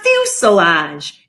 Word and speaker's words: fuselage: for the main course the fuselage it rhymes with glue garage is the largest part